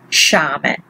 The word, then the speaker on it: sciame: It's soft. So it will be pronounced sciame.